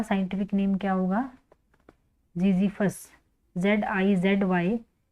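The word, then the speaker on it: Ziziphus: हम बेर बेर का साइंटिफिक नेम क्या होगा जीजी फस जड आई जड वाई पी एच यू एस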